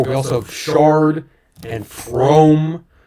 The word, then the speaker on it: Frome: Oh, we also have Shard and Frome, which is famously pronounced from instead of Frome, but I don't care.